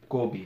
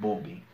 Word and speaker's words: Kobi: say things, but the most common way I've heard it is Yoko Bio Kobi, Kobi, not Bobi.